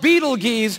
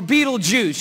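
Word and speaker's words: Betelgeuse: heard about this star it's called beetle geese or beetlejuice you can pick your pronunciation i'm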